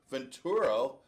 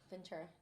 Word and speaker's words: Ventura: Is that how you say his name? Ventura. Ventura. like the the wrestler or the governor Ventura got the the win in the last just think of you know Jesse Ventur is yes of course